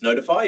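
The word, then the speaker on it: ntfy: that use this thing, NTFI, which I guess you pronounce notify, even though they like save money on bales.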